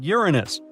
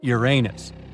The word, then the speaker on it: Uranus: Uranus all this time actually astronomers say we should be pronouncing it like Uranus not Uranus I can't say a different stress changes much though however things could have